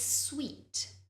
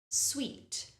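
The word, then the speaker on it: suite: look at the spelling it is actually pronounced in the exact same way as the word sweet that we use to describe food so it's an e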